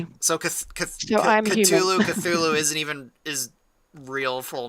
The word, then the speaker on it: Cthulhu: There's different ways to pronounce Oh, yeah. And I I was like going, in fact, if I remember right, if I remember right, even in the story, his actual name is unpronouncable by humans. If I remember right.